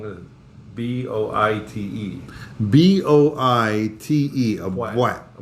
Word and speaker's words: boîte: Spell it, please. Well, I'm going to B-O-I-T-E. B-O-I-T-E. A bwat. A bwat.